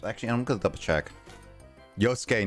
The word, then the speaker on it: Yosuke: Yosuke, not Yusuke, by the way, says Justin.